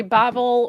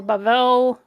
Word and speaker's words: Babel: less um I disagree I say Babel or bavel either one of those is fine Babel is also great uh I will not